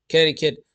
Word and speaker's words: Connecticut: Connecticut. Yeah. Connecticut.